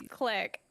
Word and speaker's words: clique: it's click? Unless you're speaking See, French, then it's clique.